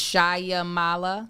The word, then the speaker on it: Shyamala: xray sh is it so there's not it's shyamala oh no this is an actress shamala shamala